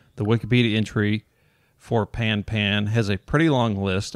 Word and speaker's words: pan-pan: Listeners are probably now familiar with its pronunciation as the common pan, but we should also be aware of the other common pronunciation as pawn, I'm guessing. Yeah. Pon-pon, in case the latter ever comes through the speaker.